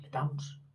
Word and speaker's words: temps: Le temps, el tiempo, le temps, que se escribe con él, le temps. Dice que había que hacer la nasal, le temps.